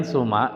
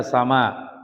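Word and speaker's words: سُمًا: Kemudian suma ini bacanya suma gitu ya. Jangan dibaca ya. Artinya ini dibaca suma dan suma di sini artinya artinya nama afan artinya nama gitu ya. Suma artinya nama jangan dibaca sama katakanlah ditakdirkan samain.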